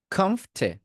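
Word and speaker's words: comfortable: কমফের ফ পর্যন্ত বলে তারপর ঠে অ্যাড করতে হবে।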